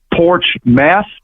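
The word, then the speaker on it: Portsmouth: It actually is pronounced like two words in English, porch meth, and anyone that's ever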